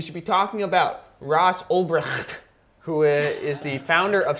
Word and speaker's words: Ulbricht: Yes, with Griffith versus, that's not a fair fight, versus Ulbricht, and I pronounce it like a German.